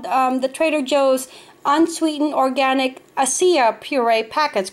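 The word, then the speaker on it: açaí: And then it's called the Trader Joe's Unsweetened Organic Acia Puree Packets, correct? That's how you pronounce it, Acia.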